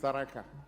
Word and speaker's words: Tharaka: You pronounce it Tharakanithi, it's Tharaka.